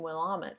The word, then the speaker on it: Willamette: And I do know I'm pronouncing Willamette correctly.